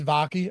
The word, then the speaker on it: Vaki: then if you think how do you pronounce his name vakai seon vaki it's vaki okay um that's why